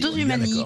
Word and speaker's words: Dosumani: Donc, Cécile Maïchak, écoutez, donc Dosumanie, hein, ça s'appelle Dosumanie. Dosumanie, comme ça se prononce, vraiment, il n'y a pas de H, rien.